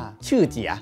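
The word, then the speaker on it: Shijie: สุด กีตาร์ ตัว นี้ มัน จะ สะกด ว่า s h i j i e อ่าน ว่า ชื่อ เจีย เป็น กีต้าร์ จาก จีน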